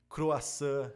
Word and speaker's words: croissant: não tem por exemplo abajur abajur olha só a sílaba tônica sendo a última sem croissant a sílaba tônica é a última então tu percebe que